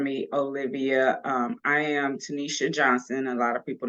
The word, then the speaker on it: Tenita: Olivia um I am Tanisha Johnson a lot of people know me as Tanisha or tanita bestseller it is spelled like tanita but it's pronounced Tanisha um I am a